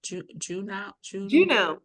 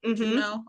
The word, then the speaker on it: Juneau: Juneau. Juneau? Okay. Juneau's our capital, and it's Okay. not like Juno. It's spelled a little different.